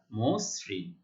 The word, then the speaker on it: মসৃণ: নিয়ম অনুযায়ী আদ্য অ এর উচ্চারণ ও এর মতো হবে, ম ওকার মসৃণ।